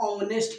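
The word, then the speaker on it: honest: तो उच्चारण जब कीजिएगा तो इसको पढ़ते हैं हम ऑनेस्ट, क्या बोलते हैं ऑनेस्ट। तो अ से स्टार्ट हो गया ना, तो अ से अह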